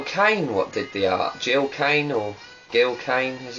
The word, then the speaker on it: Gil Kane: Gil Kane, as it's pronounced.